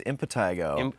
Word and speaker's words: impetigo: Well, he mispronounces it. It's impetigo. Impetigo. But he kept saying impetigo.